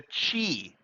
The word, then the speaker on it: Qi: to be transmitted using the chi and that's pronounced pronounced cheap from the original chinese uh but you know written as qi you know uh wireless